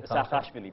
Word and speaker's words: Saakashvili: How do you pronounce his name? Saakashvili, President Mikhail Saakashvili.